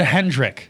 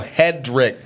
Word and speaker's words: Hedrick: He said Hendrick. What'd you say? Yeah, Jesse Hendrick. No, Hedrick. Get it right, motherfucker. Like Jimmy- Head and the guy named Rick.